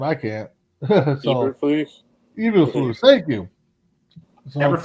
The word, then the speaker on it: Eberflus: Tim, you can pronounce that name. I can't. Eberflus.